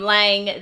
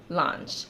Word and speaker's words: l'ange: brush and in that video I called them Lang the entire time I later found out the brand is actually pronounced launch launch launch I believe launch so anyway we